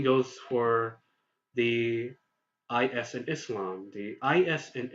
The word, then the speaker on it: Islam: for the is and Islam the is in Islam is not identical to the eysie or is in the english word dizzy the is in Islam is identical to the SS in the English word kiss so